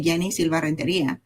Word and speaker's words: Yeni Silva: A lot of people try to change the way they pronounce the name depending on where where they are. I say it I say Yenni Silva.